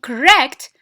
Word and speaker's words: correct: But in correct, stress is on the second syllable. Why? Because the first contains schwa as well.